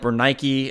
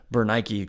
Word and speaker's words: Bernice: to an end here Bernice again in English probably pronounced more like bernik after Nike the goddess of victory was not agrippa's wife